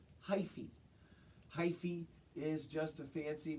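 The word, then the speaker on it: hyphae: has its own name this word hy ph e is pronounced - hi fee is just a fancy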